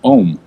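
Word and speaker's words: ogham: in a writing system called ogum or often pronounced om so that that we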